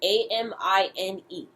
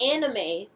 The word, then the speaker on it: Amine: And it's spelled A-M-I-N-E. Not anime, Amine.